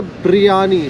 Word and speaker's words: briyani: And the other interesting trivia here is in Ambur, it is not biryani, but it's a biryani. So it's not the B-I-R-Y-A-N-I, it is B-R-I-Y-A-N-I.